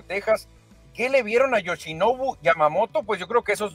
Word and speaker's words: Yoshinobu Yamamoto: japonés fate yosin yamamoto pues hay que irnos grabando este nombre para pronunciarlo bien yosi yosi yamamoto hay que ponerle nada más a yoshinobu yamamoto que tiene sete temporadas